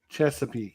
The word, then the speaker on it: Chesapeake: uh chess aak is it how do you pronounce that that Chesapeake yes it is Chesapeake yeah in the I